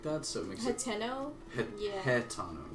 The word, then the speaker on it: Hateno: Yeah, H-A-T-E-N-O. Okay, you're right. Yeah. Hatano. See, that's how I say it. I say Hatano, but it's Hateno. It's Hateno. Hat-Eno.